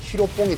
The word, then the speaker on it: 히로뽕: 근데 이걸 일본인들이 발음이 필로폰이 안 되다 보니까 히로뽕이 된 거예요, 이게.